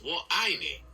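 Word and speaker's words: 我爱你: Just make sure that the middle word sounds like the word I. So, it's wo ai ni.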